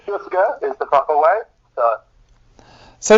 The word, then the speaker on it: Jouska: It's pronounced Jouska, that's how you say it. Some people say Jouska, but it all means the same thing.